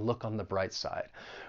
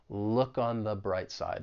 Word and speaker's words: look on the bright side: remember the article the we're going to pronounce it with a schwa sound because it comes before that consonant B sound in bright look on the bright side look on the bright